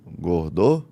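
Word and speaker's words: Gordeau: Gordou, é assim que se pronuncia.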